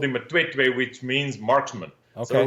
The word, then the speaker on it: Matwetwe: But getting back to your outfitting business there, and correct me if I'm wrong, but it's pronounced Matwetwe. Is that perfect? You're one of few that knows how to pronounce that.